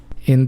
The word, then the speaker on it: hay: to be i and it is pronounced i not hay or anything like that right the h is silent we just ignore it and a is always pronounced a in spanish and y when it's at the end of a word is pronounced e so everything together i